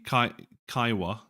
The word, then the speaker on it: Kiowa: If you check out my Kiowa, am I saying it right?